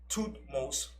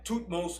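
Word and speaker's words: Thutmose: found him she named him after our father toothmost the first and tootmost is spelled t h u t m o s e and this was two most the first right when moses was born so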